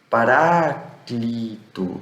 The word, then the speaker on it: Paráclito: Então você vai ter o que nós já estamos acostumados, mas alguns entendem o eta como uma vogal longa aberta, então você vai ler como um i, paráclito, então é um i um pouco esticado.